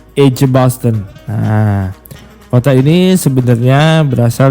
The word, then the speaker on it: Edgbaston: edgbaston jadi ini bacanya bukan egg tapi J ej Basten nah Ota ini sebenarnya